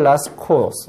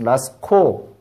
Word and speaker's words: Lascaux: in the woods, 숲속에서 near Lascaux, 라스코, 뭐 프랑스니까 라스코라고 발음하는 게 맞겠지?